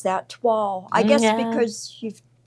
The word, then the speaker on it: toile: Yeah, and you wouldn't because it's Toile. You And would it's think French. It's toil. Yeah, Yeah, it's toile. French, isn't it? Toile. Like it's supposed to have a W in it.